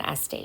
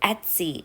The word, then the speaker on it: Etsy: to be starting an estee shop so stay tuned for that as an sd i always say it wrong etsy shop sorry guys and i'm